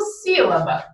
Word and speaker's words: sílaba: Olha, eu tenho aqui a minha antepenúltima sílaba, né? Tônica. E todas as proparoxítonas são acentuadas. Opa, então coincidiu, né? De eu ter um acento tônico no si e, em existindo um